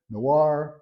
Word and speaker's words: Noir: word Noir or Noir actually you don't pronounce the r at the end so think of nuu